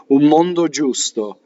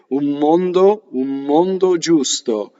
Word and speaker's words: mondo giusto: Okay, UN is un, but before M, the M will assimilate. We do this in English where we have two M's, some more, right? And it becomes one M, right? Mondo. Now, this is an N that changes to one M. And this is called an assimilation in Italian. Italians do this without even knowing it. Mondo giusto. You see what I did? Mondo giusto. So the N becomes an M.